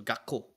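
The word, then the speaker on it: 学校: with feeling we um just pronounce the k very hard so gako um and elementary school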